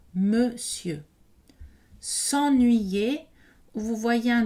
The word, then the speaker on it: monsieur: exception ici à mémoriser monsieur donc pas nadal et le n ici n'est pas prononcé non plus monsieur s'ennuyer ou vous voyez